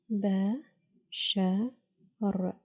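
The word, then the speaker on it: بشر: Ba. Sha. R. Bashar. Bashar. خشب means wood.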